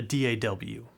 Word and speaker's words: DAW: audio workstation or a DA W a lot of people just pronounce it as DAW I like to say D aw that's just me that's